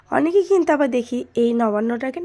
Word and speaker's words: নবান্ন: আসলে কি বলো তো, আমাদের সহজ সরল ভাষায়, গ্রাম্য ভাষায় আমরা অত নবান্ন বলতে পারি না। নবান বলেই আমরা কিন্তু উচ্চারণ করি।